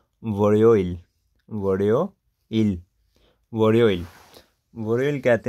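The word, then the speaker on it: 월요일: तो इधर हम लिखेंगे आर, और ये लेटा वावल यो है, वोरियो, और ये ईयुंग साइलेंट, आगे ई, और एंड पे अब रियुल आया तो इसकी साउंड होगी एल की। तो क्या बन गया? वोरियोइल।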